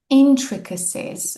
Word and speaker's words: intricacies: Pay attention to the pronunciation. The stress is on the first syllable.